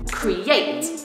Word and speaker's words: create: In 2-syllable verbs, normally the stress would be on the 2nd syllable, create.